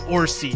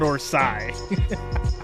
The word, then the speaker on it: Orsi: He was like, "It's Orsi, Jay. It's not Orsai."